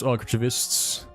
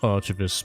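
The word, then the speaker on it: archivist: Hello, future Library of Congress archists. It is pronounced archavist, by the way.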